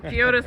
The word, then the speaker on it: Giotis: Gotta zoom in on Giotis with a soft G.